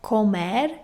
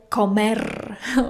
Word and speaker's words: comer: the very beginning was the single R sound in Spanish. I could say arriba really well from the very beginning, but when it came to pronouncing words like comer, to eat, I really struggle. And honestly, I still struggle sometimes because sometimes I really want to say comer, but I know that is not correct.